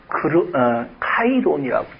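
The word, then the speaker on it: καιρόν: 헬라어로 카이론이라고 읽습니다.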